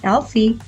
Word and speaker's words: Elf-e: telling the AI that its name is Elfie and that it should pronunciated as Alie and that he is